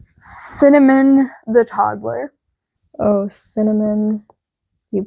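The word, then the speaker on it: Synamin: She named her S Y N A M I N pronounced cinnamon. Absolutely the not.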